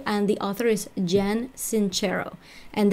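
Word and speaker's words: Sincero: the author is jen cinch arrow and that spelled like since arrow in Spanish si NCE ro but hers is Italian that's why it's inch arrow instead so that's an ad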